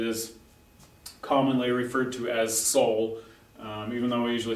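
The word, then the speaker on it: sol: used to singing uh this syllable right here Soul we spell it s so but most of the time we just forget about the L and it's kind of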